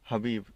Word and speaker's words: Khabib: ने, और यहाँ पर कई लोग ये कहते हैं कि वो खबीब है। खबीब नहीं, हबीब बोलते हैं उन्हें, अंग्रेज खबीब बोलते हैं, लेकिन उनका असली प्रोनाउंसिएशन हबीब ही है।